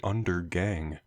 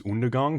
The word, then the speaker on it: Undergang: that it was buried Undergang. That joke doesn't work if you pronounce it properly, which is Undergang, but nevertheless, this is some funky, filthy death metal.